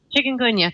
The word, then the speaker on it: Chikungunya: dengue fever, and I don't know how to pronounce some of the other viruses that mosquitoes can transmit. Say again? Yes. Chikungunya.